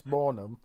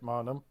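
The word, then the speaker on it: Maanum: There's an argument over her name, like a proper argument, because she says it's Mornum, but all the commentators pronounce it Marnum.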